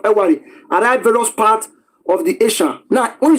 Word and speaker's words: Esan: various part of the asan now when you say isan if the British want to pronounce Asa they will say Isa so when you somebody